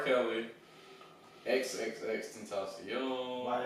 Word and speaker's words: Tentacion: And they led you to believe that it was extension. Yeah. Tentacion.